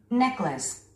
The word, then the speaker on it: necklace: Necklace. Necklace. 스트레스를 맨 앞에 주면서 necklace.